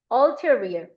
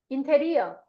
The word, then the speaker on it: ulterior: ulterior. 발음 끼워 쓴 건 발음 끼워도 이상해서 써놓은 거야. 해봐. ulterior. 시작. ulterior. 발음 끼워도 못 보는 사람은 자꾸 보려고 노력해. ulterior. ulterior. 인테리어. 인테리어가 아니라 여기서 ulterior.